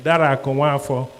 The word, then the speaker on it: Dara Akunwafor: That's the proper pronunciation, Dara Akunwafor.